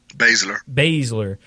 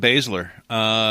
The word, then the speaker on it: Baszler: Baszler. So Ember Moon versus Shayna Baszler.